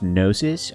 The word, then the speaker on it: Gnosis: It's pronounced Gnosis. Alright, Gnosis, noted. I was buying it from the Count Gnosis. See? I got it. Like gnomes.